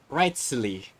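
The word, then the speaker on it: Wriothesley: personal dealings with the administrator of the Fortress ryley he's a very shrewd fellow oh right rightly I couldn't pronounce his name but thank you for for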